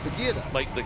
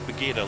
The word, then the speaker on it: Buggyra: It's like the jungle cat. It should be an H. BUGGYRA. 2 G's and a Y. But at Monza, I asked the team, how do I pronounce it? And they said it's BUGGYRA, like the animal.